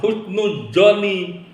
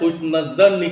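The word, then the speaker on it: حسن الظن: Kenapa bacanya bukan husnudzon? Kenapa bukan husnudzon tapi dibacanya husnudz-dzanni? Karena di sini ada huruf anna ya, ada isim anna.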